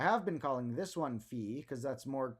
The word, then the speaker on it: phi: the funny thing is it is more technically pronounced fee but then Pi P